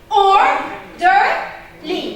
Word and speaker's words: orderly: Like orderly. How many syllables? 3. Does it end in ly? So what am I going to stress? The first syllable.